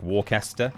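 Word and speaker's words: Worcester: There's always the absolute classic Warester. Yeah, Warester shire sauce.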